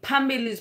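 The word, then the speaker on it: amandla: to move forward and Pamela's pronoun is spelled pH a MB I li okay so that that's that was one of the word and everybody could pronounce that because it didn't have any clicks to it and also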